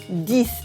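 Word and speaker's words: dix: is ten that's this this again we don't say the X at the end we replace it with an S sound this that's for ten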